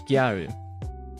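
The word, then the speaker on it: ギャル: So, in Japan, there's a fashion subculture known as gyaru, which basically is the Japanese pronunciation of girl, but you might have more commonly heard it being pronounced as like gal girl.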